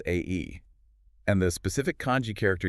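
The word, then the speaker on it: 愛: The Japanese word for love is pronounced A-E.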